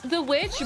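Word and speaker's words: The VVitch: what that is but it's spelled v i ch would you call me uh it might be it might be it's like it's it's the witch but they spell it with two v's instead of w oh i don't it's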